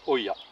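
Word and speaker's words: olla: gel à sj pète et en espagnol se se prononcent hoya l'idée c'est d'utiliser donc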